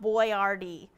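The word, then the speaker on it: Boyardee: he's like all but spell my name out Boyard D so people can pronounce it thanks for that tidbit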